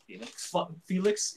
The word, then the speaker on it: Felix: Felix.